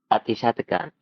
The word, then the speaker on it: Atichartakan: I'm going to mess up your last name, so you got to help me with the pronunciation. Atichartakan. Atichartakan.